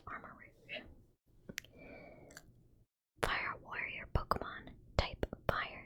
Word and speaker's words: Armarouge: I know it says ch, but I feel like that's how you pronounce rouge. So, it's armor rouge.